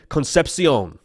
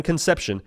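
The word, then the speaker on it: Concepcion: NC State wide receiver Kevin concepion not Kevin conception Kevin concepion all right a little bit of little bit of an accent on there sounds like the big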